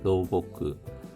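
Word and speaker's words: 老木: 모노가 신겨졌던 것이 로보도 로보 발음에 주의해 주십시오. 노목입니다. 로보크.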